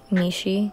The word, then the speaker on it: Mishi: My Instagram is MishiRoll. By the way, that's how you pronounce it, Mishi.